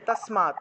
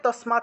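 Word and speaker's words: তস্মাৎ: নিয়ম আছে ঠিক আছে তাসমাত এই তাসমানটা টাকে তসমাত হিসেবে উচ্চারণ করা যায় অর্থাৎ হসন্ত যুক্ত দ হসন্ত যুক্ত ত হসন্ত যুক্ত দন্তীয় ঠিক আছে এই এইগুলাকে আপনারা তত হিসেবে উচ্চারণ করা যায় তাসমাত ঠিক আছে তা এখানে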